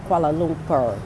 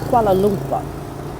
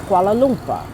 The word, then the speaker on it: Kuala Lumpur: I'm just sitting here thinking, why do people say Kuala Lumpur? It's Kuala Lumpur. Now, I ain't the grammar and pronunciation police.